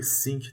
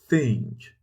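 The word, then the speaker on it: think: اوکی یعنی فکر کردن بچه‌ها اینو خیلی به اشتباهی سینک تلفظ میکنن سینک یعنی اون سینک ظرفشویی که داخل ظرف می‌شوری یا دستتو می‌شوری این چیه ثینک هزار بار گفتم داخل این کار بازم میگم زبونتو باید بذاری پشت دندون‌ها و در مابینشون اوکی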